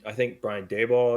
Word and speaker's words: Daboll: I think Brian Daboll is how you say his last name.